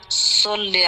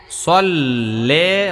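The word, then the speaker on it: صَلِّ: আল্লাহুম্মা সাল্লি আলা মুহাম্মদ সাল্লে হয়ে গেছে। সাল্লি সাল্লি আলা মোহাম্মদ মাশাল্লাহ। ফাতেমার আইনের উচ্চারণটা ভালোই হয়।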